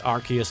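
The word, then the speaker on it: Arceus: Was it not the official pronunciation? Shame. It's Archus now because ass.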